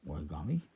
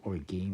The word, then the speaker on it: Origame: it's produced by origani I'm going to say it's pronounced origami because well the logo is origami otherwise it's just orig game and it just sounds kind of weird it's R is seven